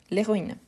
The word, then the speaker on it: héroïne: à cause des héros héro c'est avec un h aspiré héroïsme c'est un H mué héroïne c'est un H mué l'héroïne on est été on est